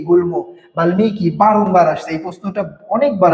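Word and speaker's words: বাল্মীকি: তো বাল্মিকির উচ্চারণটা দেখেন ম এর সাথে বাল্লিকি বাল্লিকি হওয়ার কথা ছিল কিন্তু কি হয়ে গেছে? বাল্মিকী হয়ে গেছে।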